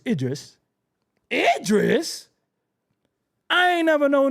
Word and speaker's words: Idris: name is well go with Edris then out my crib Edis you all indignant and nasty because I mispronounced ADR I know Idris Maham I knew a dude in the street